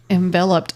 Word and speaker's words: enveloped: Enveloped us over these last few weeks. It's like envelope, but yeah, it's exactly. I know, and that's how I was like enveloped.